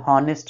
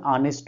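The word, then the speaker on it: honest: ठीक है, जैसे ऑनेस्ट है, उसमें भी यही है, हॉनेस्ट नहीं बोलते हैं, हालांकि राइट प्रोनाउंसिएशन ऑनेस्ट होता है।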